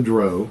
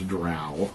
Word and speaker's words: drow: ok so then comes the the dro of course which you know many of you pronounce drow which i do not which is fine fetch